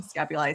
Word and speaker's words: scapulae: So we start with the scapulae, which looks like a scapula, but I'm using scapulae.